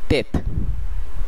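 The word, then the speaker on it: tête: ফরাসি টি এর উচ্চারণ কোনো সময় ইংলিশের মতো টি বলা হয় না, কিন্তু সেটিকে বাংলার সঙ্গে মিলালে ত এর উচ্চারণ হয়। যেমন এই ক্ষেত্রে টেট, টেট যার অর্থ মাথা, এবং আপনারা বাংলাতেও দেখতে পাচ্ছেন এটির উচ্চারণ হবে তেত।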